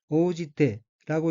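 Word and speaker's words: 応じて: 다음 어휘는 한자가 응할 응자이고 일본어로는 오지테라고 읽으며 오지테는 응하다, 대응하다는 뜻의 자동사 오지루의 태형으로 오지테는 응하고 란 의미입니다.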